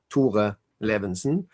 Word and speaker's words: Tore Levinsen: So, I pronounce it Tore Levenson.